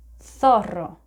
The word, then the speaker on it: zorro: Or another word that contains this letter is zorro, but if you're in Spain, you would listen to the word zorro.